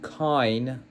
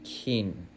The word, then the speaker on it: کین: Yeah, it's written kain or kain, but the pronunciation should be kin.